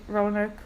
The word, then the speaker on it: Roanoke: Are you going to watch American Horror Story Roanoke with me?